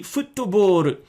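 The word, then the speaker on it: フットボール: I mean, it's an English word, and if you pronounce it in the Japanese way, it would be futtoboru.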